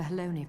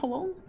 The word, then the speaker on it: Halone: I give thanks to Haloni for your preservation. It is our sole cause for gladness. Haloni? The entire time? Not Halone?